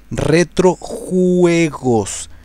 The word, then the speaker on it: Retrojuegos: Just in case, you have to pronounce it like this: Retrojuegos, Juegos Chile, Juegos.